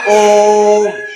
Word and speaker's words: ओम: ये जो हमारा चिन्ह है इसे त्रिमात्रिक स्वर भी कहते हैं क्योंकि इसमें जो उच्चारण समय है वो काफी लंबा चलता है, अधिक समय तक उच्चारण चलता है, इसीलिए इसे प्लुत स्वर कहते हैं।